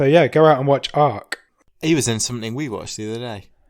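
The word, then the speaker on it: Arq: He's picked a film called Ark. Okay. Which is spelled A-R-Q.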